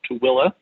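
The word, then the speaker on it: Tooele: away a town called tooilla it's not it does not sound the way it's spelled but that's how you pronounce it um they also have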